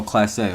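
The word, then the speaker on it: Clase: Oh, Class A, okay. Class A, the pitcher. All right, I thought it was Class A.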